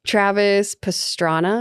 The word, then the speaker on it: Travis Pastrana: Travis Pastrana, is that how you say it?